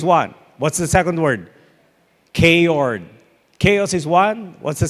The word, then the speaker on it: chaord: He greets them, and he says this, "Welcome, K-Ords." And he remained silent to let them think about what he just called them. He called them a K-Ord. A K-Ord is spelled C-H-A-O-R-D.